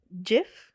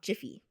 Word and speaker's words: Jif: Jif, not Jiffy.